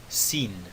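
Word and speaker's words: שׂין: Notem que eu estou terminando a letra Sin com o N, tá bom? Sin.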